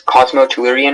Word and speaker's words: cosmotellurian: Am I pronouncing it correctly? Cosmotellurian? Yes, Cosmotellurian or Cosmotellurian.